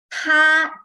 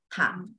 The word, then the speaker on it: 他: This 他 is female 他. This one is another 他. 他, 他, 他. But it's the exactly the same pronunciation. Yes, you are right. You see, the spelling same, the tone also same. So pronunciation same.